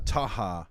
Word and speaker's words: Taha: more from from uh taha that's how he how you say his name it's like ha ha but with a tea yeah and it's uh taha the phoenix and uh